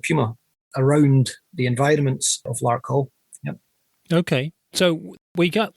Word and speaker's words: Larkhall: Okay, Larkhall. Is that how we're pronouncing this town in south-east of Glasgow? Is that right? Larkhall. Yeah, Larkhall.